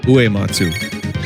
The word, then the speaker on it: Uematsu: Because is it Uematsu or Uematsu? I always say it wrong. Uematsu. All right, so then I say it right.